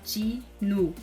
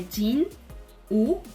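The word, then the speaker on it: 진우: Então, por exemplo, Ji-nu. O hangul dele é Jin, U, mas na hora de pronunciar, você pode pronunciar como se fosse Ji-nu.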